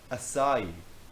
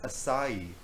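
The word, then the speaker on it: açaí: Acai, said Rachel. What did you just call me? It's pronounced acai, not acai.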